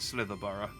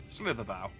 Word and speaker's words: Slitherbow: I've been pronouncing it Slitherborough. I've not been reading it properly. Slitherbow.